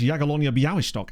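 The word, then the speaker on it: Jagiellonia Białystok: are saying, "Uh, well, actually that's Yagalonia Bowishtock." Actually, this is where the polls are like, "No, it's not, Matt. You've been saying it wrong for the last nine months."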